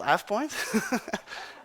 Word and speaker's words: AvePoint: Um, it's called AvePoint. uh, AvePoint, yeah, I know, it's weird. Europeans don't like that. But if you say AvePoint, I won't be harassed or anything, don't worry.